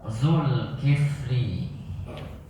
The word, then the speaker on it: Zulkifli: Silakan Pak Zulkifli. Pak Syekh. Apa kabar Pak Syekh? Pak Zulkifli harusnya bacanya Zul. Zul bukan Zul, tapi bacanya Zulkifli.